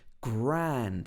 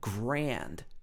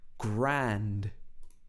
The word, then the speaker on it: grand: another old phrase and notice the way he says ah grand this is not like the air much uh wide-mouthed in the american accent in the american accent it might be something like grand grand so this would have this sound but in the british accent it's more like a shorter like that ah grand would it be wonderful